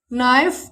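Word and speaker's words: knife: Silent है। इसे पढ़ेंगे night, no, नाइफ, knowledge, knock.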